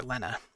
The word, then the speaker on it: Lena: Work hard and give Lena the life that she deserves. Her name's actually Lena, but it looks like Lena, and it drives me nuts that it's spelled like Lena, but it's technically said Lena.